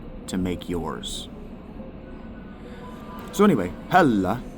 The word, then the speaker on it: Hela: So anyway, Hela is how you pronounce her name in the old the old Norse, maybe even in modern Norse.